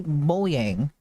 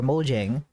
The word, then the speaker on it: Mojang: well this is basically moyang or Mojang I can pronounce them both days it's kind of valid but I don't know